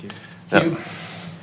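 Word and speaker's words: Houle: Sir, it's pronounced Hugh. I'm going alphabetically down the list. You skipped some. So I did. Who did I skip? Hulele.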